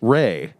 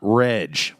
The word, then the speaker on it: Rej: I literally wrote down in my notes, her name is pronounced Ray, not Reg.